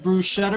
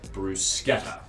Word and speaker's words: bruschetta: the chance to clarify so in italian the combination of letters c-h-e creates the phoneme k so as service staff we will want to pronounce it bruschetta so it's kind of